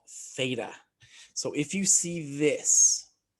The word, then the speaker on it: theta: o with a line through it this is pronounced theta it's a greek symbol it doesn't really matter